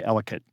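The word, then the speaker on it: Ellicott: Elott City. It's We don't say Elott. We say Elicate. Yeah. I tell people elicate rhymes with delicate.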